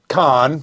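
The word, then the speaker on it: Caen: Battle of Khan sorry I want to say it like a redneck Ken's the film festival in the South I know yeah not the same thing um but it's the Battle of Khan right and this also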